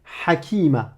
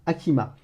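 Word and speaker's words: حكيمة: Tu vas me le prononcer ha, comme une expiration de l'air, mais râpeuse, étranglée.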